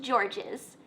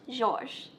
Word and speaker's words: Georges: Now you may have noticed from the intro slide that his name looks like George with an S on the end of it, but it's not pronounced Georges. His name is pronounced Georges.